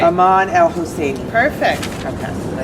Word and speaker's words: Husseini: Aman El Husseini. Perfect. Okay. I always say it's like Hussein, but Italian, you know?